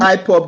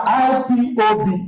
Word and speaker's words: IPOB: We are not IPOP. There's nothing like IPOP. Thank you very much. We are IPOB, indigenous people.